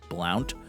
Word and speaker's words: Blount: And depending on who you listen to pronounced it, may or may not have been pronounced Blount, but I think it was Blunt. Most of the time I heard anyone refer to Mr. Blunt, it was as Blunt.